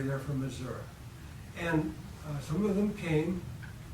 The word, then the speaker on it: Missouri: They're not from Missouri, they're from Missouri.